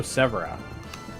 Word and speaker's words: Severa: Oh, Severa. That's probably a more accurate way to pronounce that.